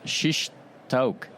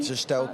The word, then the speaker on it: shish taouk: Shish taouk.